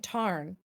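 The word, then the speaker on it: Tairn: I don't think so I've been saying Tarn that's how the book pronounces I'm so scared of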